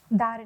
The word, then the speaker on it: Dharani: How is it pronounced? Dharani, no? Dharani, ma'am. Dharani. Okay, that's the Tamilian version of Dharani. Yes. What we'd say Dharani in the north.